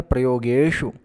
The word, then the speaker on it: प्रयोगेषु: हुआ है धन धान्य प्रयोगेषु, तो यहाँ पर शु इस शब्द में छोटा ऊ की मात्रा है, तो इसको बड़ा उच्चारण नहीं करना है, ये छोटा ही रहेगा।